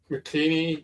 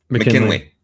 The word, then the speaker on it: McKinley: Um um Mckini was the guy I don't I'm prone pronouncing it right. How do you say his name? McKinley.